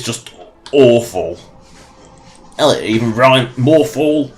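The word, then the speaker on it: Morthal: awful Ellie even Brian more fall rhymes with awful it's just terrible again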